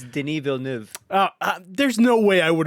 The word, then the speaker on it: Denis Villeneuve: Dennis Villeneuve. All right. Well, nope. it's French Canadian. It's Denis Villeneuve.